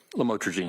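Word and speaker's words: lamotrigine: about the u the lamel otherwise known as lamatrogene. Did I pronounce that right? Lamotrogene.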